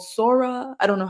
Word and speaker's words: Sora: open AI recently released I think it's called sora I don't know how you would pronounce it s o or something like that Sora yeah Sora okay perfect and basically you can